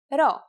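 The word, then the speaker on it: Rho: have to remember to pronounce this letter as an R here's the uppercase row it is handwritten like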